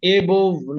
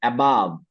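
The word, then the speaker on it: above: যদি মানে দুই একটা এবভ এবভ না উচ্চারণটা সবাই বলেন এবাব এবাব এবা এবাব এবাব এবাব আরেকটা এমং না উচ্চারণটা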